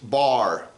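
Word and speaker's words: בר: little word bet R the bet is the B sound the r is the r sound the word is pronounced bar which now is uh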